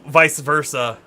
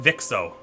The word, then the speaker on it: vice versa: Oh, vice versa. Vice versa. I see. See, in my mind, I was pronouncing it Vixo, so it didn't even, like, I couldn't have gotten there, I don't think.